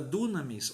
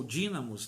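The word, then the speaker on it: δύναμις: é uma palavra chamada dunamis ou dínamos dependendo da sua pronúncia e no grego e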